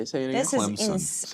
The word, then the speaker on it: Clemson: This Clemson. is You're putting a P in the word.